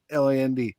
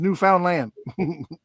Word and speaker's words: Newfoundland: It's that that's how it's pronounced, and it need to be then they should be spell it Newfinland. Because if you read it, it says Newfoundland.